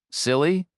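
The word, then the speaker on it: CILHI: He pronounced it phonetically and it made her smile. Silly, she repeated.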